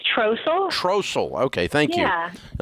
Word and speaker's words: Trossel: Did I pronounce that correctly? It's Trossel.